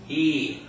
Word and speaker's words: y: you know the end and then the letter Y that's all by itself that's a word in and of itself that means and it's pronounced just like the high and off a e o so to say and in Spanish we say what ii ii okay so now